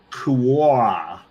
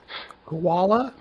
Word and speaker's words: Quaoar: It's Quar. Koala? No, Quaoar. Quar. Quar.